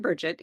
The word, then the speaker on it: Brigitte: So if you speak French a little, if you can say français, you can say Brigitte. It's the same. R. Okay. So the Brigitte comes from where? Okay, so we pronounce it Bridget here.